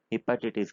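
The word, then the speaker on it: hepatitis: तो ये सारी हिपेटाइटिस, हिपेटाइटिस क्या प्रोनाउंस करते हैं इसको, यही करते हैं हिपेटाइटिस।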